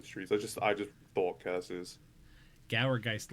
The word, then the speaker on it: Gourgeist: Gourgeist, like gourd. Oh, Gourgeist. Yeah. Not Gour, Gourgeist.